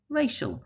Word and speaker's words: racial: Magic, magician. Race, racial. And that C changes to a sh sound.